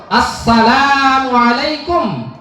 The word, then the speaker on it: আসসালামু আলাইকুম: সালামটা অনেক সময় শুদ্ধ হয় না। অনেক সময় বলি আসসালামু আলাইকুম। এটা সালাম হইলো না। সালামু আলাইকুম। এটা সালাম হইল না। অনেক সময় বিভিন্নভাবে সালাম দেওয়া হয়। কিন্তু সালামের শুদ্ধ উচ্চারণ হইল আসসালামু আলাইকুম।